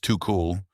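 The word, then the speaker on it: Tuchel: Thomas Tukul, pronounced too cool, shrugged it off and pointed to a 6 p.m.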